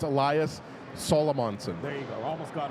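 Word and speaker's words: Elias Salomonsson: how to say his name properly Patrick El elash salamonson but it's no it's Elias solomonson there you go almost got her right there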